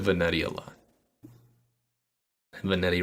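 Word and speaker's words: Vanetti: said vanity a lot vanity rhymes with spaghetti that's right all right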